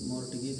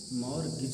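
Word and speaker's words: mortgage: हुआ है वही बोलेंगे, लेकिन ये मॉर्टगेज नहीं बल्कि मॉर्गेज है, यहाँ पर टी का कोई स्थान नहीं है, मॉर्गेज।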